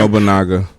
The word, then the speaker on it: Oda Nobunaga: Obunashi. I'm pretty sure I butchered the mess out of his name. Oda Nobunaga.